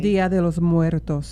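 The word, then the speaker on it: Día de los Muertos: I don't know how to say it correctly. Dia de los Muertos. Yes, there you go.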